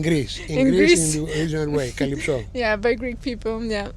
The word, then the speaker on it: Calypso: But it's easy to pronounce, Calypso. Calypso, yeah, and I noticed that you really emphasize the O at the end.